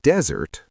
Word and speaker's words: desert: For example, you probably know that desert, stress on the first syllable, means a vast sandy area.